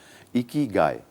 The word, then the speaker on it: ikigai: इकी गाय इज the right pronunciation for this word.